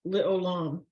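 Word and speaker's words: לעולם: Well, Le'olam. Right, so it's le, o, lam, because your ayin is silent, and then lam.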